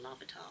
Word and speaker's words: Larvitar: looking well designed lavator i love atar it's pronounced lavator i love it i